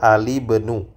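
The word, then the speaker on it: الابن: itu kurang tepat tapi yang benar yang tepatnya ada alibnu ya Alib NU seperti itu jadi alismu dibaca dengan alismu ya kalau kalau ee Ibnu bersemung dengan alif lam maka berubah menjadi alibnu nah alibnu alibnu alismu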